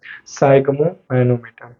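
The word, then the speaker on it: sphygmomanometer: हैं, उसका नाम है साइग्मोमैनोमीटर, ठीक है जी। इसको कुछ और भी पढ़ता है लोग, लेकिन मैं कहता हूँ साइग्मोमैनोमीटर ही पढ़िए और स्पेलिंग याद रखेगा, राइट।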